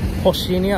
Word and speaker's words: Rocinha: Rocinha, I think it's pronounced like Rocinha, but it's R-O-C-H-I-N-H-A.